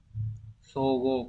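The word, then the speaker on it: 相互: Thì trong trường hợp này ấy, cái chữ tương của chúng ta nó sẽ đọc là so, như vậy chúng ta sẽ chọn được đúng là số 3. Sogo có nghĩa là tương hỗ lẫn nhau.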